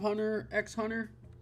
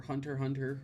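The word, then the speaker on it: Hunter × Hunter: I actually haven't read a lot of Hunter X Hunter, or Hunter Hunter, however you prefer to pronounce it. I've pronounced it both ways.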